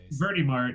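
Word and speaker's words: Verti Marte: place is great uh so birdie mart it's it's a sandwich place in new orleans louisiana inside of a soup like inside of a really small bodega and uh it's spelled verdi marty kind of like old time-ish yeah i really like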